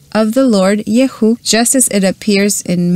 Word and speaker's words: YHUH: And of course, we're going to use the word of Elohim, and we're going to call the Yud Hey Vav Hey as Yehu, which is the most simple form to mention this four-letter name of which the Lord manifested himself in the past.